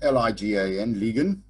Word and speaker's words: ligan: the side if it is a distressed situation pronounced l-i-g-a-n-ligan okay this refers to um goods that are